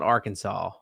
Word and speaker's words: Arkansas: or all right so that's AR Kansas City that we were looking at there not Arkansas even though it's spelled the same AR Kansas City Kansas